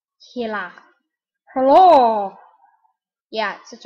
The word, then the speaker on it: Gila: Looks like Gila, it's pronounced Gila. Gila.